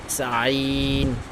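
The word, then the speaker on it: ع: তারপর আইন, এটা জানিস হলকের মধ্যখান হইতে উচ্চারণটা হয়, ঠিক আছে।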